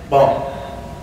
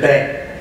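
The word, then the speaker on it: banc: How do you say bench? Bench. Bon. Bon. Bon, right? And how we say it? We say bang.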